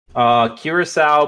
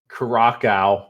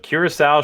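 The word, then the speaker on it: Curaçao: ] now it's like Curacao blue Chambord vodka and pineapple juice I think did you say Russian though no Chambord loo Curacao okay which a lot of people pronounce Cracow or cute croc I don't even [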